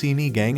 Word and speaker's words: sinigang: sinigun this popular Filipino soup is characterized by its sour taste pronounced sini gang it is one of the most representative dishes